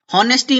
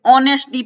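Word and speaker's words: honesty: और टेस्टी भी कि होनेस्टी नहीं पढेंगे से ऑनेस्टी पढ़ते ऑनेस्ट ई ठीक है यह साइलेंट हो गया है और यहां कंफ्यूजन हो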